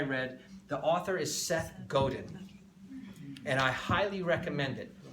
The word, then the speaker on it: Godin: But here's Godin, G-O-D-I-N. Spell it. G-O-D-I-N. If you were French, it would be Godin.